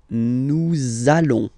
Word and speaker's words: nous allons: between the words, so it does mean that you will have to pronounce this z sound, okay, listen to me, nous allons, nous allons.